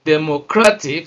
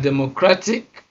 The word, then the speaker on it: democratic: And the rule says that stress is placed on the second syllable from the end of the word. So let's check it out. When we look at democratic, placed on the second